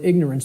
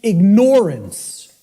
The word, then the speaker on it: ignorance: us, of the word ignorance, because of the way it's pronounced. I tell people, start pronouncing it ignorance. Ignorance. Then people will hear the word ignore in it, and the connotation becomes clear.